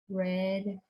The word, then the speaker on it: read: then he write right read red red spelled the same but pronounced differently so this one yes